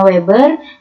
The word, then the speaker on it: Weber: Oke, ini bacanya Weber.